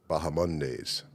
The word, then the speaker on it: Bahamondes: So, yeah, we're going to Bahamondes. Yeah. Apparently the H is silent. Bahamondes, Bahamondes. which is it's kind of strange to me, but I mean, he must know how to say his own name. Yeah.